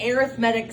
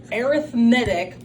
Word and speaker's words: arithmetic: Today we're going to learn about arithmetic sequences. Arithmetic looks like arithmetic. It's just all in how you say it.